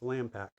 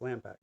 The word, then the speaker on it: LMPAC: And so we've kind of lmpac, which is lampac. It's pronounced lampac.